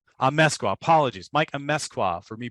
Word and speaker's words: Amezcua: Can you give me a pronunciation? Amezcua. Amezcua, apologies.